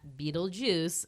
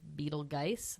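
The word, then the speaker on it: Betelgeuse: is like a weird ge, but you do pronounce that Beetlejuice after I did some research because for years I was saying you pronounce it Beetlegeist.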